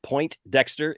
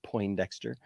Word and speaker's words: Poindexter: Just as it looks here, it's not Point Dexter, it's Poindexter. It's not Poindexters.